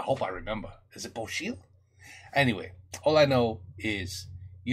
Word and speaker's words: bocil: Bocil. Is it Bocil? Right? C alone, pronounced C-H. Damn, I hope I remember. Is it Bocil?